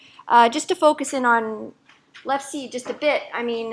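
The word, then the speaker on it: LEfSe: I think I pronounce it LEFSI, but I don't know what people call it.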